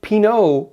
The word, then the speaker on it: pinot: And because the character of Miles also likes pinoa, pinoa, pino, pino, p i n o t.